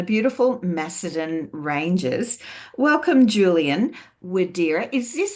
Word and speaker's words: Widera: it's an old Prussian name from schia it's pronounced in German viir julan viir and I I do believe your